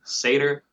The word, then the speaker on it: Satyr: locusts a bug or anything like that later pronounced satyr knots a tour yeah if you're like most